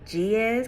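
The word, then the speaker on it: Ge'ez: pronounce this word right it's called the GS calendar GE apostrophe e z calendar and it basically describes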